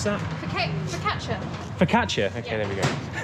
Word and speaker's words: focaccia: How do you pronounce that? Focaccia.